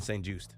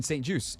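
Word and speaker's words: St-Juste: Craig so I will no longer say Benjamin St juice it's Benjamin St juice Anthony was today years old and so were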